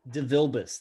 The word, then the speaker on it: DeVilbiss: DeVilbiss, that's how you say it.